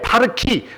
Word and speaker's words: 파르키: 제 이름이 거기서는 미스터 파르키입니다. 미스터 팍인데 파르키 발음하기 좋게 파르키가 나를 위해서 피를 주었다.